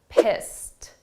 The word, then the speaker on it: pissed: past simple verb but the sound of that Ed is a very soft T pissed pissed now when we